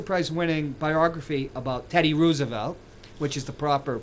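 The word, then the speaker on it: Roosevelt: A a Pulitzer priz winning biography about Teddy Rosevelt which is the proper pronunciation as FDR they're fourth cousins two different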